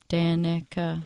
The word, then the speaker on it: Danica: The name is phonetic. I don't understand why people can't pronounce it right, but Danica sounded out.